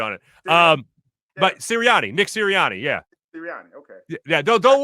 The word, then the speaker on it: Sirianni: Nick Sirianni. Did I say it wrong? You're going Siriano. It's a totally different Italian family.